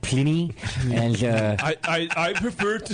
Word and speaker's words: Pliny: I think you mean Pliny. It's pronounced Pliny, and I prefer to say Pliny.